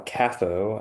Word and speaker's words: CAFO: This is what they call a catho, I believe, is how it's pronounced, but it stands for a concentrated animal feeding operation.